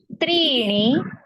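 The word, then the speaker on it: त्रीणि: द्वे द्वे अधुना अत्र त्रण का त्री जो है वो दीर्घ है तो दीर्घ उच्चारण करना है त्रण त्रण चत्वारि तवारी पंच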